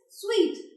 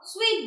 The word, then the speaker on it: suite: But you'll pronounce it as W-E-E-T. It's not that material. That the same it is. But the pronunciation is same, which is suite. We will book a suite there, not suit there.